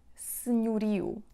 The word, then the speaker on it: senhorio: So the accent falls on the penultimate syllable, which is ri. Senhorio, senhorio, senhorio. Okay? So in the first syllable we have se, s-e, and that e is actually muted. So we hear something like se, senhorio, senhorio. It's not open like senhorio. In the second syllable we have non-stressed o, which sounds like u, senhorio, senhorio, senhorio, eu.